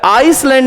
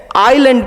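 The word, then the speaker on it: island: जितने भी द्वीप्स हैं उसको अंग्रेजी में आइसलैंड नहीं पढ़ते हैं। आइलैंड पढ़ते हैं। एस साइलेंट होता है।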